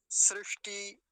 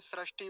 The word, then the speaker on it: सृष्टि: कुछ लोग क्या बोलते हैं, सृष्टि बोलते हैं ऐसे करके, सृष्टि, ये वाला बोलने में उच्चारण सृष्टि का होता है कि परमात्मा ने सृष्टि बनाई, सृष्टि नहीं बनाई परमात्मा ने तो सृष्टि बनाई, सृष्टि। और उसमें भी भीतर क्या है, मूर्धन्य शकार है ये इसके अंदर जो बना हुआ